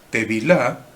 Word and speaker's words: tevilá: Una palabra es tevilá. Tevilá se escribe con T. Y ustedes están esperando que les diga si es con B corta o B larga, ¿no? Bueno, es con B corta. Tevilá. Tevilá. T-E-V corta I-L-A.